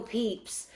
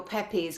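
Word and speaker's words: Pepys: we were seven and she called him Samuel Pepes because it's spelled that way pe e p ys of course we're trained no you pronounce it peeps and you know how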